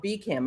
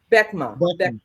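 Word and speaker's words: BECMA: of the economic council which is called became i hope i'm pronouncing that correctly beckman thank you for that correction where she headed up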